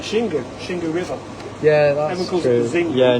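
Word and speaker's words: Xingu: so X it's like shingu shingu yeah that's Zing yeah no one pronounces zingu it's like No shingu And yeah act as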